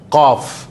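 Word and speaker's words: ق: Ang pronunciation ay ganito. Q. Qof. Qatar.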